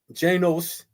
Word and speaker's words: Janus: Janus, pronounced Janos, is the god of beginning.